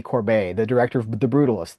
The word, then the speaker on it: Corbet: You know, Brady Corbet I think he pronounces his name Brady Corbet, the director of The